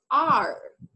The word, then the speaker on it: are: Remember that letter E does not sound. Okay. You don't pronounce letter E. La letter E que está al final no la pronunciamos. Solo la letter A, la letter R. Dos sonidos nada más.